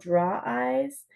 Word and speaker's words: Drawize: And there's another one called Draw Eyes, DRAWIZE.